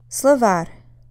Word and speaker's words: словарь: Словарь. Словарь. It's on the second syllable here on the а.